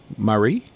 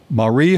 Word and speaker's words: Mari: her name is Marie how would you pronounce ma RI Marie Marie Holman George that name ring